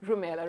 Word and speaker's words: Rumaila: Rumela, right? Yeah. I'm so sorry for mispronouncing that's it.